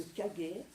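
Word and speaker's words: 影: Alors Kage, là c'est très intéressant parce que Kage, c'est l'ombre. Ça se lit Kage en japonais, en chinois, enfin en sino-japonais c'est in. C'est le in du yin.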